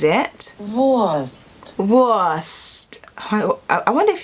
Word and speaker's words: Wurst: the speed of this in german it's like the w is kind of like a v so voice it's like a soft v worst you see this